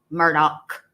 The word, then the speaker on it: Murdaugh: uh Alex Murdoch Alec let me say it correctly Alec Murdoch Murdoch where his uh appeal